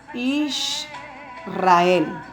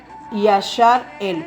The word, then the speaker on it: Israel: Así que la palabra o la pronunciación correcta para el pueblo de Yahweh es Israel, no Yashar-el, porque la palabra Yashar-el